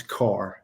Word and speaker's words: Kerr: And, the other thing is there's a great book, Legacy by James Carr. It's spelled Kerr.